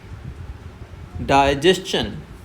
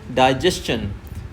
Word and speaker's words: digestion: डाइजेशन di slow पढ़ना है। और यहां पे जेस्चन से हमें क्या करना है? शुरुआत हाई कर देनी है। जबकि सबसे ज्यादा यह भी मिस प्रोनाउंस किया जाता है। सबसे ज्यादा यह भी रोंगली प्रोनाउंस किया जाता है। इसे कहते हैं डाइजेशन। डाइजेशन नहीं होता है। इट्स डाइजेशन। डाइजेशन।